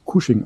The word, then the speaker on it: Cushing: und aufgrund des cuschings ich find cusing eigentlich immer komisches Wort weil ich es als casching gelernt habe aber es wird wirklich kusching ausgesprochen ja aufgrund eben der